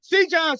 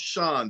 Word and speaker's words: Cjon: the one the only C John what's good baby hey all right all right hey how you doing good good all right it's it's actually pronounced Shan though oh Sean okay got